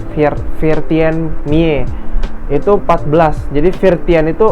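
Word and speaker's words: Veertien Mie: Mie ya bukan mi bacanya virti mie itu 14.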